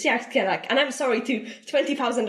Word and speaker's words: Dearc Sgiathanach: it's very, very new, which is pronounced as Dearc Sgiathanach, and I might be saying it incorrectly as well, because it's in Scottish Gaelic, which is not my native language, and it's not a